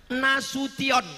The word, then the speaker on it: Nasution: Nasution, cara bacanya Nasution. Karena ada orang naik pesawat sampai di airport transit dipanggil namanya orang metu. Kenapa? Dia salah dengar waktu dipanggil Nasution.